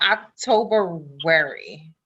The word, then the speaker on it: Octobuary: So we have to talk about October-wary.